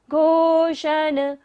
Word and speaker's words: घोषण: गंभीर तार रव पूरित द्विग विभागस, त्रैलोक्य लोक शुभ संगम भूति दक्षः, सधर्म सधर्मराज सधर्मराज जय घोषण। मूर्धन्य श है देखिए घोषण में, तो हमें मूर्धा से उच्चारण करना है।